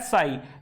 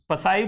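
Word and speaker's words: psi: इसको बच्चों प्रोनाउंस किया जाता है साई, वैसे इसे लिखा जाता है ये पसाई बोलेंगे इसे, लेकिन पसाई होता नहीं है, ये एक्चुअली पी साइलेंट है।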